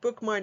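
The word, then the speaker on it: Bookmyne: your app store and bookmine is spelled b-o-o-k-m-y like my n-e the digital catalog and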